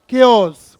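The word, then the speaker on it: chaos: केओस। कुछ लोग से चाओस बोलते हैं, इसलिए मैंने पूछा क्या है। केओस है, चाओस नहीं है।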